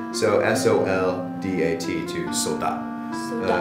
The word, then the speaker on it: soldat: So s o l d a t to soldat . Yeah . So in French they often don't pronounce the last letter or the last few letters .